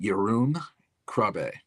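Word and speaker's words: Jeroen Krabbé: So, you have I think it's they he pronounces it Yun Krab and uh he's um most known for being Dr.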